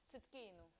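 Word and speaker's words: צדקנו: And in Hebrew, Boris, what, how is that pronounced? Циткейну.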